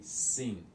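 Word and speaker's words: sim: But in Portuguese they say sin, sin is spelled with the N, but it's nasal, sin.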